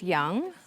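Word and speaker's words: Yong: My nickname is Young. It pronounced as if it's Y-O-U-N-G, but there's no U.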